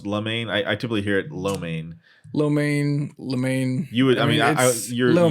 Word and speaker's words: lo mein: Lamaine, Lamaine? Yeah. Is it pronounced lamaine? I typically hear it lo mein. Lamaine. You would. You're lo mein. If you say it fast, it's lamaine.